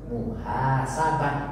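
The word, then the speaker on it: محاسبة: termasuk klasifikasinya adalah muanas muhasabatun tetapi dalam pengucapan kalau kita diwakaf kalau kita berhenti maka yang Tun ini cukup dibaca ha Muhasabah tapi jangan lupa ada Alif berarti di panjangkan fathahnya kalau ada Alif kalau ada iya kasrahnya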